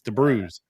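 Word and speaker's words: de Brueys: I've been calling him Warren Debrueys for I don't know, Debrueys or Debrees. It's Debrueys.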